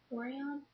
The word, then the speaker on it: Orion: So I got a trio, and it's in 621 Orion, I think that's how you say it, Orion.